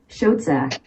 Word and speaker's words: Schoedsack: This is how you pronounce it. Schoedsack.